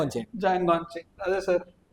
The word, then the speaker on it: Django: And then Deadpool, then Tarantino, Django Unchained, Django Unchained. Django Unchained. Other sir. The D is silent.